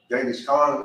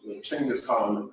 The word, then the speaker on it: Genghis Khan: So, but they were, Genghis Khan, or Chinggis Khan, however you want to pronounce it.